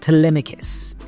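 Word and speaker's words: Telemachus: Okay, I'm not going to spell it cuz I can't spell it for but it's pronounced Tmicus.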